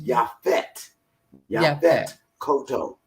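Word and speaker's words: Yaphet Kotto: about y'all fed cotto everybody they say his name different they say yep it i i used to say it that way you know but his name his correct name was ya fit yeah koto okay and you know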